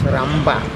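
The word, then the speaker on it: ܪܒܐ: Therefore, you see, for example, for Rabba, we pronounce Ramba.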